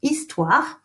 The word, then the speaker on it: histoire: Histoire, some people want to pronounce the H, we don't pronounce the H, it's histoire.